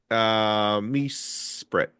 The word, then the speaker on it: Mesprit: Mesprit.